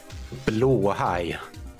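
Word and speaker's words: Blåhaj: Blowhai. I don't know how to say it, Blowhai. Well, then why don't they spell it that way?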